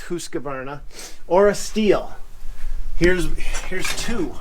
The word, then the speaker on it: Husqvarna: They'll either send you a Husqvarna, and yes, I'm saying that right, it's actually pronounced Husqvarna, or a Stihl.